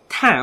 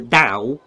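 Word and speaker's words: Tao: Troopers interesting so um TA or da as it is actually pronounced uh is a Chinese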